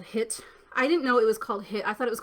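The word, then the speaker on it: HIIT: didn't know it was called hit i thought it was called h i i t and i just found out a couple days ago that i've been saying it wrong because i'm generation x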